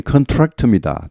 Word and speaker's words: contract: 발음이 컨트랙트입니다. 뒤에 오죠. 스트레스가 강세가. 이게 명사가 되면 컨트랙트 계약이란 말이죠. 그럴 때는 앞에 옵니다.